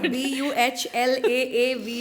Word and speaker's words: Balav: And it's not Balav, Ballav, Balavi, Pulao. I don't know what someone called it Baklava. So it's Balav, guys. Buhlaav is the pronunciation.